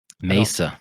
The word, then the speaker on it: Mesa: The E the E is an A and the A is an A Mesa.